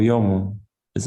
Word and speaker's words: 泳ぐ: So in Tokyo area, it's pronounced 泳ぐ. So instead of gu, we are saying ng. Yeah. Some nasal sound.